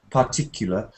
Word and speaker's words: particular: of a long word for example here I can see part but it's not part particular it's more like partic particular particular particular okay so